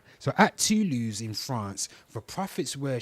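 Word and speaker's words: Toulouse: How do you pronounce that? Tulus. Tulus. Okay then. So I pronounce it wrong. So at Tulus in France, the profits were shared between the city and the university in England.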